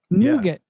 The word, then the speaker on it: nougat: know there wasn't enough I always thought there was an R there to this day I